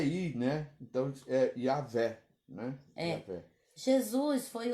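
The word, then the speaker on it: Yahweh: só já vem a nossa pronúncia porque a pronúncia do barco aí a letra j é ir né então yaveh né então jesus foi o nome dado ao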